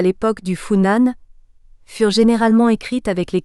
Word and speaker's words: Funan: Funan, prononciation moderne des deux sinogrammes qui le transcrivent, devait autrefois, et plus spécifiquement à l'époque des Tang, soit grosso modo les Vié 9e siècle, être prononcé Bi-Unam.